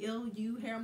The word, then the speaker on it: LuHair: This hair comes from a company by the name of LuHair, like L-U hair. We're gonna say Lu.